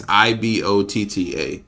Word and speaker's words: Ibotta: I think it's pronounced Ibotta. So Ibotta. Is that what it was? Yes. Let me see. Go back to it. Yes, Ibotta.